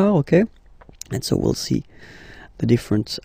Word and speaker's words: as: So as you can notice, second form AS is pronounced A, and this is A. Same pronunciation in both cases, okay?